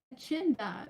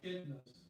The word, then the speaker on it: echidna: One night, as the moon was full again, the wallaby heard the familiar waddle of the echinda, if that's how you say it. Echidnas.